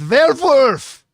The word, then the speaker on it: Velvar: At number eight, Robert Edgars is back with Velvar. That is the only acceptable pronunciation by the way guys. Velvar it's coming out.